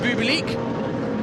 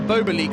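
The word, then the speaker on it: Jean-Luc Beaubelique: And currently at the wheel is Jean-Luc Bubelic, or Bobelic, I should probably pronounce it, after Jean-Luc Blanchemin took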